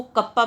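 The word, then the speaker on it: κ: Constant लगाएंगे तो ये नॉर्मली K नहीं लिखा हुआ है, ये कप्पा लिखा हुआ है, ये ग्रीक लेटर है और इसको कप्पा प्रोनाउंस किया जाता है।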